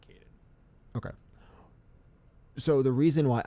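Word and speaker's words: Kaidan: Is because for me, I believe the proper pronunciation is Kaiden.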